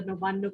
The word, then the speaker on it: Nabanna: early origins of the Nabanna Crafts Mela. I'm going to pronounce it the way we do here. So spelled N-A-B-N-N-A, but we say Nabanna.